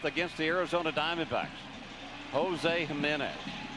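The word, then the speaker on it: Jiménez: Jose Jimenez of St. Louis on June the 25th against the Arizona Diamondbacks. Jose Jimenez. JJ. Or HH. J, of course, pronounced as an H in Espanol.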